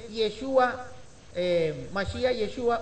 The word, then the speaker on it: Yeshua: una vez al masia yoshua eh acá se escribe de esa manera pero Nosotros sabemos que es yeshua eh masia yeshua o